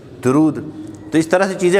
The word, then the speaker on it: درود: جیسے عام ہمارے یہاں درود صحیح تلفظ دال پر پیش ہے, درود.